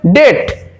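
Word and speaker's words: debt: যেমন দেখো ডিইবিটি স্পেলিং করার সময় ডিইবিটি বলতে হলো কিন্তু উচ্চারণ করার সময় হবে ডেট ডিইটি অর্থাৎ বি এর এখানে কোনো প্রয়োজন নেই উচ্চারণ করার ডিইবিটি ডেট ডেভড নয়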